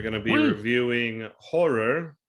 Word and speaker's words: Ho99o9: reviewing Horror, which is spelled Ho99o9, and their new album Skin.